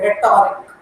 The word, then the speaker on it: rhetoric: अगर आप प्रोनाउंसिएशन की प्रैक्टिस करोगे जैसे listening, for example if I speak a word रेटोरिक, सो र, द वे I pronounce र, तो वो र अकेला नहीं है, उसके बैकग्राउंड में साइलेंट एच है.